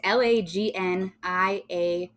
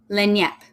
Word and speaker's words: Lagniappe: How do you pronounce that, Keely? Lagnappe. See, it wasn't even fucking close.